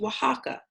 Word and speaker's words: Oaxaca: Lac it's the name of the state it's pronounced Oaxaca and here at the star is Oaxaca City